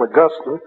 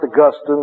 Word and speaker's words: Augustine: read to you from augustine and by the way it's uh it's pronounced augustine not augustine saint augustine is in heaven and saint